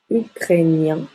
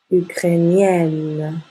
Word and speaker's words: ukrainien: Ensuite, pour les adjectifs qui au masculin se terminent en I, E, N, se prononce ien, ukrainien. Le IEN devient IE, 2NE. Et encore une fois, on ouvre la bouche.